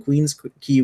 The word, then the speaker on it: Queens Quay: Amsterdam brew house along Queens Key West or Queens Quay hey you won't ever once you pronounce that a brew pub featuring a red key yeah and keys what I said first but some people might guess you had it right the first times like yeah right thanks